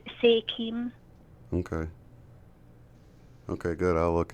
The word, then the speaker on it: SEIDHEM: And it's pronounced Sechum, or how did you pronounce it? Sekim? It's pronounced Sekim.